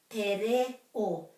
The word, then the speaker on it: te reo: So if we remember to put a break after every vowel, that's the key. Te. And then this is re. Te re o.